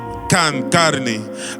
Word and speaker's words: KhanKarni: KhanKarni, so you know the meaning, and it's pronounced KhanKarni.